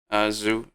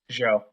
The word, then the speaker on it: Zhou: We have Leclerc DNF on that one, and Zhu. How do you say that again? Zhou.